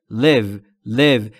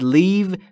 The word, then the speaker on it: live: در مورد تلفظ live دقت بکنید. تلفظ ای در live به صورت کوتاه بین ای و ا، یعنی به این صورت باید تلفظ بکنید. live live. و اگه یک کم بکشیدش یعنی بگید leave میشه ترک کردن. پس با یک تغییر تلفظی معنی کلمه عوض میشه.